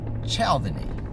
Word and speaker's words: Cialdini: I will start out with a pronunciation correction. Robert Cialdini. Just checked it on YouTube, on actually Google. I just used Robert Cialdini pronunciation and read it to me. And so I have a long-standing correction to make there. I must have been pronouncing it wrong for years.